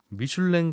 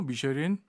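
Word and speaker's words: Michelin: 미슐랭 가이드북은 맛집 소개해주는 거 아닙니까? 네, 맞습니다. 그게 미쉐린하고 관계가 있어요? 영어로 미쉐린, 불어로 프랑스어로 미슐랭이거든요. 아, 그래요? 앙드레 미쉐린은 영어식 발음이고 음.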